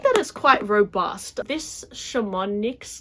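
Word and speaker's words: Chamonix: is quite robust this Shaman NYX leather shimani leather I think the x is silent is a discontinued Leather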